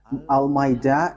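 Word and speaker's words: Al-Ma'idah: So, the way you write it, Al-Maida, is as it is pronounced, Al-Maida.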